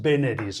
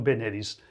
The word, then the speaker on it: veneris: Hemos dicho dies veneris, no veneris.